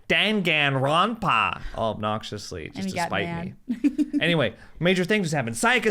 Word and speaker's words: Danganronpa: dengan wrong the path there's an N in there dank and run path it took months for him to train me how to say it right that was three years